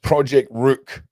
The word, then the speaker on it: Project Rooq: Um, if you go to the Project Rook website, also if Lady D is watching, it's pronounced Project Rook.